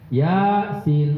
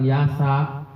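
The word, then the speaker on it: يس: membunyikan huruf-huruf muqataah ya di diucapkan dengan nama hurufnya ya bukan huruf yang berharakat ya dengan nama hurufnya Ya yaas karena ya dengan sin bukan Yasa atau Alif Lam Mim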